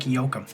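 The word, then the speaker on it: Joachim: Uh, so that's either Jookum or Yokum or Hakeim, but I'm pretty sure that it's like Yokum.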